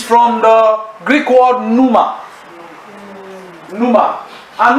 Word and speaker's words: pneuma: Pneuma. And pneuma means what? Wind. P-N-E-U-M-A. P-N-E-U-M-A. Pneuma. The P is silent. Pneuma. Just like when you want to spell psychology, you still put what?